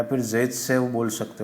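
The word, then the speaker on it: Zaitsev: Okay, कहाँ का है ये भाई साहब, रशिया, नाम है Russia, Alexander ज़ायत्सेव, also pronounced as सेटजेफ।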